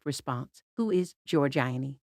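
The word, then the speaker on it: Giorgione: correct response who is George aini however he broke up the syllables so it sounded like George Gionee which apparently rendered him incorrect no maim ruled in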